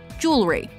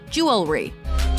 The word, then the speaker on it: jewelry: Common mispronunciation? Jewelry. Correct pronunciation? Jewelry.